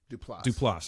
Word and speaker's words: Duplass: Duplass.